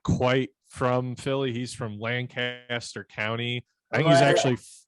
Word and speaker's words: Lancaster: columbus that is called lancaster and it's spelled the same way so i would know no other we pronounce it properly because we have the harshest a's up here in northeast ohio we just hold on